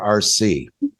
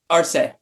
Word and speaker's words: Arce: Do you pronounce it Arce or RC? Arce.